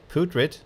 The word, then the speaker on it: putrid: Ah, putrid, not putrid. Not like poo, but like pew.